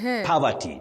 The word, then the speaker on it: poverty: Poverty. But we should avoid those. You say po with that low back sound. O po. Poverty. Okay. Poverty. Not poverty. and not poverty.